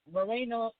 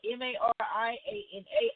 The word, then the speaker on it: Mariana Islands: territories, which includes Puerto Rico, American Samoa, the Commonwealth of the Northern Marina, I'm saying that wrong, Northern, and it's spelled Mariana Islands, Guam, and the U.S.